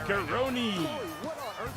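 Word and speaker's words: Kronii: And representing the Authority from another time, Kron. Either you two breathe with all this superstar smugness. Learn how to pronunciate. It's Karoni.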